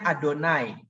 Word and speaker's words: YHWH: Ingat, Tuhan huruf kapital itu YHWH ya. Bacanya Adonai.